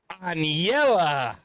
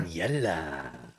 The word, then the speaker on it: Anllela: ANLL? Yeah. Double L is a Y. Interesting. Like pollo. She's very cute. She is a very cute, nice. Aniela.